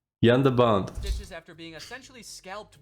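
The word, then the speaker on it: Jan de Bont: Director of photography Jean Debon. There's absolutely no way I pronounced that correctly. Jean Debon needed 120. Hey, it's Jan. Jan de Bond.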